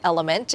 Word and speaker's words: LMNT: The brand that I recommend is this one called Element. It is spelled L-M-N-T.